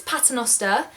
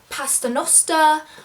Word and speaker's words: Paternoster: No one can ever spell my surname, so to pronounce it's Paternoster, Paternoster. I get called Pasternoster, I get called like